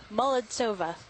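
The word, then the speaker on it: Molodtsova: Molodsova.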